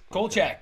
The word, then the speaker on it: Kolchak: We had Kolchak. Is that how you pronounce yes, it? Kolchak, Okay.